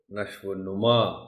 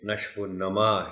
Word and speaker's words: نشو و نما: درست بتا دیجیے گا، کیونکہ غلطی سے بہت سے لوگ اس کو نشو و نما پڑھتے ہیں۔ یہ نشو و نما ہے، اس کے معنی ہے